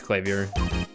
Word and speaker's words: Clavier: It was just like, I was like, I think it's pronounced Clavier. But okay. No, I looked it up. It's Clavier. Okay.